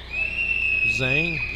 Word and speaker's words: Zhang: Zhang? Zong? How do you spell it? Zhang.